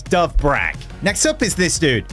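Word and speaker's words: Dovbyk: First comment is actually the pronunciation of one of our strikers, which is actually quite simple. It is Dove Brag.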